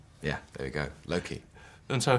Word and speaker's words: Loki: swear Anthony was saying Loki uh well well he's Welsh so maybe he maybe that's I think he says Loki Loki like that in his deep gravitas sincere way yeah there we go Loki and so how many